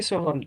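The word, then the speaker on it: Sochan: Sohan, that's it. Yeah. Yeah. Me, the expert in name pronunciation, hosting a podcast here with a lot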